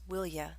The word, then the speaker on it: will you: you with a request it's often pronounced as willya example quit that tapping